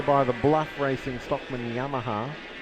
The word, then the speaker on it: Yamaha: the Bluff Racing Stockman Yamaha, or Yamaha if you're Alan Moffat. How's that go? Yamaha. You just emphasis the emphasis is on a different syllable.